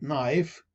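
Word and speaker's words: knife: مثلا في اللغة الإنجليزية لدينا كلمة نايف تبدأ بالكي ولكن لا تلفظ الكي هذه.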